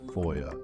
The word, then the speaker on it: FOIA: to call this Boya for short foia we pronounce it foia now this is a very powerful tool that